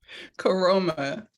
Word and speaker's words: Koroma: Can you pronounce it for me? you. Koroma.